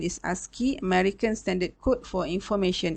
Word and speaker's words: ASCII: scheme the first one is called ascii the pronunciation is ascii american standard code for information interchange the second